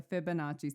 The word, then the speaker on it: Fibonacci: the oh my god, I'm gonna destroy this Fibonacci sequence. Did I say it right? You did. It's the Fibonacci sequence.